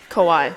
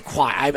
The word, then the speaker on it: Kawhi: Kawhi. I say Kawhi.